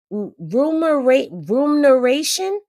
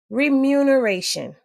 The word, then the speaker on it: remuneration: Rumoration. Is that how y'all say it? I don't know if that's how y'all say it or not. Let me see. I know the word. Remuneration. That's how you say it.